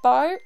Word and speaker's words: Beau: no liquid nipple tickets who is pronounced a bow it's beautiful it's a friend it's french for a beautiful one describing something oh bo okay tell